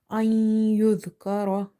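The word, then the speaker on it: أَنْ يُذْكَرَ: After noon sakin, if you see your maloon letters, so you have two situations. You have to do the idgham, which is merging. Ma'al gunna, it means with a gunna, or it can be without gunna. So here we have letter ya. For letter ya, we are doing the merging, which is idgham with gunna.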